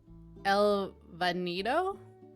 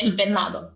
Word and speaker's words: El Venado: El Vanido? I'm questioning myself, but I feel like that's it. Oh, yeah, El Venado.